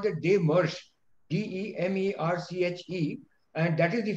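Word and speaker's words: démarche: It is pronounced as DEMERCHE. Oh, sir, I was not sure of the pronunciation. That's why I spelled out the word to her, sir. DEMERCHE.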